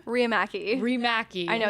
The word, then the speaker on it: Riihimaki: very special guest what how do you pronounce your last name raki remaki I know it's a trip AKA